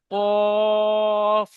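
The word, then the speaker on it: ق: যে অক্ষরটা পড়লাম এটা কফ পরিষ্কারভাবে উচ্চারণ করবেন কফটা গলার ভিতর থেকে আসে কফ এটাকে বড় কফ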